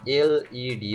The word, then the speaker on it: LED: লেড শব্দের বাংলা অর্থ হচ্ছে সীসা, দুঃখিত, শুধু সীসা মনে হয়, এটা কখনোই লেড বলা উচিত নয়, এটার না এলইডি অথবা লাইট এমিটিং ডায়োড।